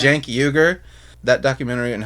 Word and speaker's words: Uygur: I always want to call him Sank, because that's how it's spelled. But it's Cenk. Yeah, I think that's okay, right. Yeah. Cenk Uygur.